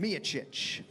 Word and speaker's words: Miocic: So big, massive weight gain and good weight gain for Stipe Miocic. It's really an internal struggle with Miocic and Miocic. It's because it's spelled Miocic, but it's Miocic.